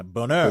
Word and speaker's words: bonheur: Do they spell it with something. a U though? Bouner. No, it's Boneur. That's French. Yeah, bonheur.